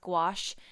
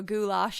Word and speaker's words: gouache: So I finally mastered the ability to say that word. For the longest time I was saying it wrong. I even threw a goulash in there.